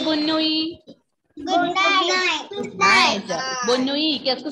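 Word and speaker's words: bonne nuit: Bonnui. Bonnui. Ending letter T will be silent. Ending letter T will be silent here. Bonnui. Kaise say Bonnui?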